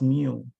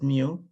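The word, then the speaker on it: μ: It's called, it's pronounced as mu. Is mu, pronunciation is mu.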